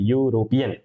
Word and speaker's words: European: Pronunciation इसका consonant से बोला है European.